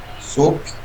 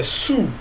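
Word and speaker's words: soup: super Edilaine Exatamente porque se você fala sou é sabonete em inglês tá é Sul Super Beleza mas todo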